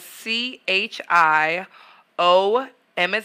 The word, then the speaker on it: Chioma: So it's spelled C-H-I-O, M as in Mary, A _.